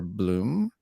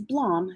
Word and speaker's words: Blohm: is it bloem or bloom um it's blom so bloem is actually probably the more correct pronunciation but i've grown up with blom blom it is and